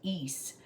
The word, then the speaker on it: Isa: Um so it's pronounced east.